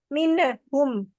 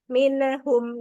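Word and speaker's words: منهم: Alhamdulillah ya nyampai cuma tadi kayaknya minum Min heeh tawalud ya Jadi ada itu minhum gitu jadi minhum he Boleh diulang Um W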